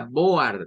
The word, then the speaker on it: board: recordarlo pero nótese que aquí el diptongo oa no se pronuncia en el inglés como Board No no eso no es no es no es una Board no no suena oa no el sonido o es o para estas dos o es cualquiera de